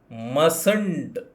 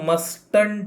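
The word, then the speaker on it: mustn't: ಮಸ್ಟ್ ನಾಟ್ ಅನ್ನು ಸೇರಿಸಿ ಮಸಂಟ್ ಮಾಡ್ತೇವೆ ಇದು ಮಸ್ಟ್ ಅಲ್ಲ ಮಸಂಟ್ ಮಸಂಟ್ ಇದನ್ನು ಉಚ್ಚಾರ ಮಾಡುವಂತದ್ದು ಮಸಂಟ್ ಅಂತ ಸರಿನಾ ನೆಕ್ಸ್ಟ್ ನಾನು ಬರಲೇಬೇಕಾ ಕಡ್ಡಾಯವಾಗಿ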